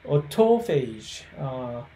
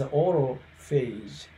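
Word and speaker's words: autophagy: So autophage, is the correct way of pronunciations. But the vast majority of those experts simply keep pronouncing as autophage.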